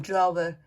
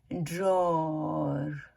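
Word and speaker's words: drawer: और जैसे हम लोग बोलते हैं थ्रो, तो उसका जो सही प्रोनाउंस है वो है थ्रू, थ्रू, थ्रू, ठीक है। और हम लोग जैसे बोलते हैं ड्रॉवर, ड्रॉयर, जैसे कपड़े रखने के लिए या बुक्स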